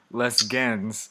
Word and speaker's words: les gens: Les gens. Les gens. Les gens. Les gens. Les gens. Yeah, because G and E in French is je. Je. Not gen. Je. Je. Les gens.